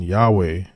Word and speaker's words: Yahweh: It says, while inclining to view the pronunciation Yahweh as the more correct way, we have retained the form Jehovah because of people's familiarity with it since the 14th century.